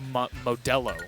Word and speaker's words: Modelo: It's pronounced Modelo.